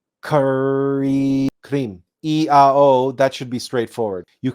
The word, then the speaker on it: krim: a o and cream now this are is supposed to be rolled so we can't roll our RS so we can't we can't demonstrate it for you but it would be phonetically it would be something like this K cre EO that should